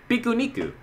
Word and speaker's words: pique-nique: But in Canada, and I don't remember which part, they have an accent and instead of pronouncing it as picnic, they say pikuniku.